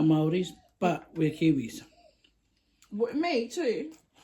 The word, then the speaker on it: Māori: You know that's how you say it. It's Māori. Māori. Get it right.